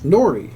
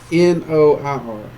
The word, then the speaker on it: noir: Nori. So it's kind of that dark series, that black series. I think they're trying... Nori, like seaweed? N-O-I-R. I may not be saying it right. Noir. Noir, that's it.